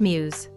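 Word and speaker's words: μ's: her school's idol group mu s pronounced muse her optimism friendliness and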